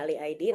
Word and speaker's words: A11YID: Aku juga adalah salah satu steering committee member dari Ali ID, gitu ya, A11YID ya, kita bacanya Ali ID, nanti akan aku ceritakan.